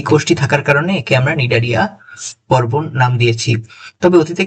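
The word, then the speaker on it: Cnidaria: এরপরে আমাদের আলোচনার বিষয় হচ্ছে দ্বিতীয় পর্বটি অর্থাৎ নিডারিয়া পর্ব। বানানটা খেয়াল করেছো এখানে একটা সি আছে।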